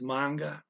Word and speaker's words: mga: equivalent um okay uh mga is pronounced manga it's one of uh two words that don't that are not phonetic in this language um so there's no reason why mgh should be manga just that's how they